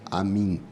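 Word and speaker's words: Амінь: entoada a palavra amém só que o craniano clássico Amém se pronuncia a mim eu fico muito feliz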